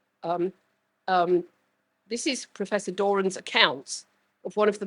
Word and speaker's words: Doran: day long you have yes it's Doran dor there we are you see so she rhyme with Moren right um book at